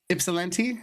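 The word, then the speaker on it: Ypsilanti: YOUR LIP YOU I can pronounce yipsi. Ipsilente. Is that right? Ipsalante.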